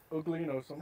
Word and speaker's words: uliginosum: Oligonosum. Oh, it's oligonosum.